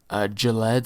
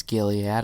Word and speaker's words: Gilead: next we have uh gillette sciences as i call him it's gilead i know but i'm saying gillette that's what i always